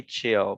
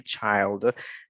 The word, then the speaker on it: child: so a child child we do not say chill we say child so children is for